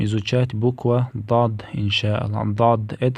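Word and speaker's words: ضاد: Дад — это не буква Д, а дад.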